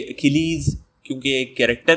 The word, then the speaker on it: Achilles: सबसे पहले एक छोटा सा प्रोनाउंसिएशन टिप इसका नोट करें कि ये अकीलीज़ प्रोनाउंस किया जाएगा। तो यहाँ पे सी की साउंड जो है वो हार्ड है। ये अचीलीज़ नहीं होगा, अचील्स नहीं होगा, ये अकीलीज़ होगा।